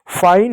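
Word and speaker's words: fine: उसी प्रकार एफ से फ हो गया। आई से आ की मात्रा और इ हो गया। एन से न हो गया। ई साइलेंट हो गया। फाइन हो गया।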